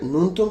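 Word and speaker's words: ন্যূনতম: বাক্যে না হচ্ছে ক্রিয়াবিশেষণ কি ক্রিয়াবিশেষণ ছয় নাম্বার ননতম শব্দের উচ্চারণ কোনটা হবে ননতম শব্দের উচ্চারণ হচ্ছে নুন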